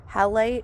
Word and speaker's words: halite: Oh, and what I told you guys I was gonna get, halite. It's actually halite. So I think I was pronouncing it wrong.